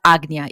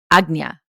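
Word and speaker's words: Ajna: But it is agna. Even though it's spelled sometimes it's age, it's spelled aj na. It's pronounced agnya.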